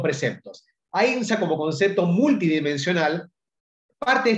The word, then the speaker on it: ahimsa: se denomina ahimsa, o en el sánscrito antiguo se debe pronunciar ahimsa, que significa no dañar,